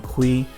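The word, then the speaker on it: Cui: My name is Kui. Last name is spelled C-U-I on LinkedIn.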